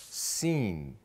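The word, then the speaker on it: سين: The letter sin makes a s sound.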